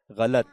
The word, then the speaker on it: غلط: ٹھیک ہے، یہ اصل میں غلط ہے، لام کی زبر کے ساتھ ہے، غلط.